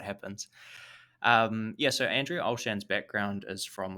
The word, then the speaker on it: Olshan: to get out then andrea oshlan i'm probably pronouncing that wrong andrea olshan um stepped in there there you go um stepped in the